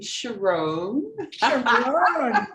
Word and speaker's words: Sharron: is i have to tell you i pronounce my name sharon you would never know many people i just